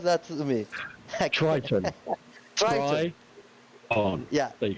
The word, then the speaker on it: Triton: Can someone pronounce that to me? Triton.